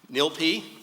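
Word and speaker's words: NYLPI: many of you know and have experienced firsthand nilp which is what I'm told is the correct pronunciation is a vital resource in our legal community and nilp has been a tremendous partner in helping City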